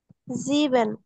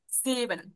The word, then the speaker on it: sieben: জিবেন। সিবেন, ইয়া সিবেন।